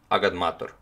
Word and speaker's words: agadmator: You pronounce it agadmator, like it's, you know, like it's written, agadmator.